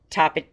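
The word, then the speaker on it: Tapatío: Tapatio Yeah, Tapatio Anyways, this one.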